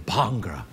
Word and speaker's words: Bhangra: How do you know the Bhangra? I just got into it recently. It's pronounced Bhangra, not Bhangra.